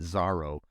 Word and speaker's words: Zoro: uh or Zoro but they pronounced it zaro but it's it's spelled Zoro like the like the